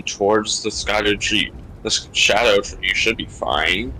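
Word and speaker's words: Scadutree: also fun like yeah it's not Scot tree it's literally pronounced Shadow tree like that is the old kind of spelling oh is actually or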